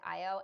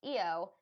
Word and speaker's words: Io: the other side is Io and Callisto. Before I get anybody in the chat telling me it's pronounced Io, it's both. So I'm going to call it Io, but hey, so we are, yeah.